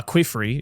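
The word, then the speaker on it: Qifrey: Uh Quifrey is her name or Kifrey? I always I never know how to pronounce it. say Kifrey.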